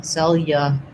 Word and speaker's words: cellular: The AR letters say the unstressed sound. So this is what's hard, I think, for a lot of people, is doing the lur. So build it from the back, trying lur, yulur, cellular. So the yulur, that's the difficult part. It's also the part that needs to go by quickly and doesn't get a lot of time and stress. Cellular.